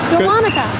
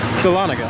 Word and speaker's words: Dahlonega: How do you pronounce this ride? Dahlonega. Dahlonega.